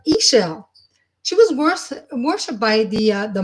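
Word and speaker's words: Ix Chel: So it's pronounced Ishel. I know it's IX and I think like 9 or something, but Ishel.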